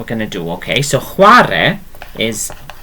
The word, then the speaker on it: chwarae: So it's that sound again. Okay, very soft sound.